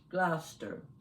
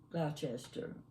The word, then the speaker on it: Gloucester: We would probably call it Gloucester. We would call Dorchester, we would call it Dorchester. But that's not the way the English pronounce those names.